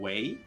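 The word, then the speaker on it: wey: the way to say dude kind of is like way um which is w e y w e why way why yeah yeah it's the same pronunciation as like way kind of but like way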